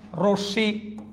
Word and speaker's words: রশ্মি: সবাই দ্বিতীয় উচ্চারণ হবে, কারণ মটা লাস্টে আছে, এখানেও লাস্টে, এখানেও লাস্টে, এখানে মাঝখানে ছিল। ওকে, এখানে আমরা দেখলাম রশ্মি, রশ্মি কেন উকারান্ত দিলাম?